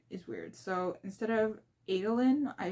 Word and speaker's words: Adolin: So instead of Adolin, I pronounce it Adeline just because it's makes sense in my head, so I'm gonna continue doing that.